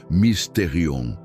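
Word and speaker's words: μυστήριον: Para entendermos a natureza desses sonhos, podemos olhar para a palavra grega mysterion. se pronuncia misterion.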